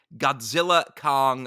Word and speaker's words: Godzilla x Kong: I can confirm that the official title is intended to be pronounced as Godzilla Kong the new Empire why' they put the